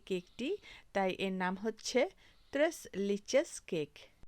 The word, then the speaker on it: Tres Leches: তো এই কেকটির নাম হচ্ছে ত্রেস লিচেস কেক। এটি স্প্যানিশ ভাষা।